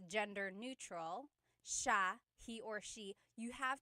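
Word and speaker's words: siya: And then just a note about pronunciation. It's sha sha. The s i y combination makes the sh sound in tagalo.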